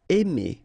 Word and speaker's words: aimer: Aimer. Okay, remember when you combine A and I, then you get the sound E. Really open, E. Aimer.